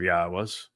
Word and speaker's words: Yahweh: But since your opinion is the opposite of Yahweh's, it's obvious that you speak for the very religion God despises. Ask yourself, why was I able to ascertain that Yahweh is the proper pronunciation of God's name and prove it?